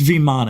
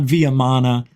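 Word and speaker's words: vimana: even care vman V it's viman it's not vamana all right you want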